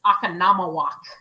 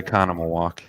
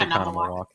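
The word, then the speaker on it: Oconomowoc: It's a Connemawalk. Is it? Oh, sorry, Akanamawak. It is. It's a Connemawalk. But it like the way it's spelled looks like the way Susie's saying it, but it's pronounced Connemawalk.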